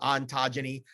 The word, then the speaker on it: Xontogeny: So branding, there was a healthcare product called Xontogeny. I said, well, how do I do this? So I decided to just put an X in the front and pronounce with a Z.